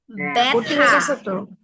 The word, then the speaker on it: ব্যথা: তখন এটা উচ্চারিত হবে, কিন্তু উচ্চারণটা হবে একারের মতো। যেমন ব্যয়, তারপরে ব্যথা।